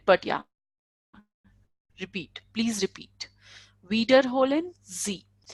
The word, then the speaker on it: wiederholen: something, you can say wiederholen Sie. Like, can you repeat? Not can you repeat it, but yeah, repeat. Please repeat. Wiederholen Sie. Wieder, because we have the sound of IE is E.